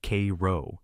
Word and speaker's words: Cairo: Cairo, Illinois is pronounced Kro, not like Egypt.